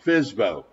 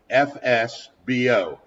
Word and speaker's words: FSBO: I'm sure you've seen it's pronounced fsbo fsbo which stands for a for sale by owner some states have specific